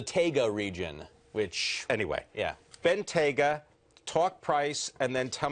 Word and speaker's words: Bentayga: Circle I've listened so many Bentley Executives say BGA all right so we got the name and they even say that's because of the TGA region which anyway yeah Bena talk price and then tell me what kind